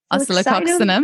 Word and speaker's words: Oscillococcinum: My other remedy that I probably share the most with people is the flu remedy, the oscillococcinum.